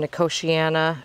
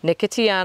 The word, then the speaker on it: Nicotiana: surrounding that I've some Nkosi ana excuse me Nicotiana I say it wrong every time you guys nicotiana a lot